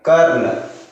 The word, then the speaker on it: कर्ण: जैसे for example क है, रेफ का मात्रा यानी कि ये आधा र और ये न, तो हम लोग इसको पढ़ेंगे कर्ण। कर्ण यानी न से पहले इसका साउंड आएगा, ठीक है।